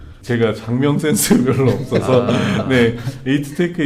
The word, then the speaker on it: 에이트테크: 제가 장명 센스 별로 없어서네 에이트테크 이제 에트는 사실 AET를 그냥 한국식 발음으로네 aet네 그래서 advanced environment지의 약자 우리가 일반적으로 재활용이라 많이 표현하는데 이제 자원순환이라는 형태로 많이 해요.